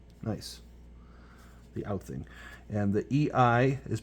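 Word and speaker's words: Alþing: Oh, so that thing that looked like a P sounds like a TH. So it's the Althing. Nice. The Althing.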